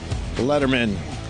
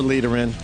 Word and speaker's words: Lederman: It is. Thank you for God knowing it. damn it. Yes. Well, I said it right the first time. It's like David Letterman with no T's.